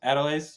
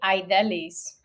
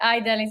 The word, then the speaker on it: Aidelys: Yeah, it's actually Idelis, but I will forgive Jake for his pronunciation. I've been saying it like that for a while. It's I Delies.